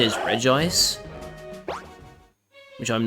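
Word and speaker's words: Regice: I I pronounce it Reggie ice, but apparently the official pronunciation is re ice, which I'm not the biggest fan of.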